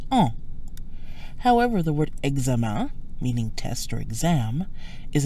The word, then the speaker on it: examen: However, the word examen, meaning test or exam, is an exception. The en sounds like an, another nasal sound usually associated with combinations like in, ain, ein, etc. So test is pronounced examen with a nasal sound an.